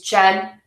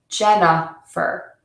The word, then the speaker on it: Jennifer: It has a schwa syllable, that middle beat. So my name is not Jenny with a long E, fur. It's Jennifer, Jennifer, Jennifer. There's that schwa syllable in there.